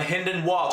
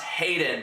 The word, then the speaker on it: Hynden Walch: members Starfire Club my hynden walch I actually previously pronounced Hayden by mistake if you watch my